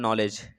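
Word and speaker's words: knowledge: बताओ सैंडविच में क्या साइलेंट है भाई, मतलब किसकी उच्चारण, जैसे कि मैं बात करूँ नॉलेज, KNO आप लिखते हो ना, KNOWLEDG, नॉलेज लिखते हो।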